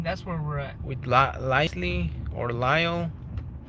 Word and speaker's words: Lisle: With Lisley or Lyle. I don't know if the S is silent or the L is silent.